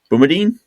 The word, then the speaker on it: Bumadine: I think it's Bumadine. So, I I did a uh watch with Nord Extreme with Penn State and BEu. Um, and I'm pretty sure that's how you say his name.